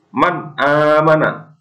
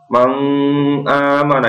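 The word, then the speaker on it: مَنْ آمَنَ: bertemu huruf alif Hamzah maka dibacanya harus jelas Man aamana tidak boleh mau amanah itu salah seperti ditekan Man aamana kemudian mid-size minhaisu juga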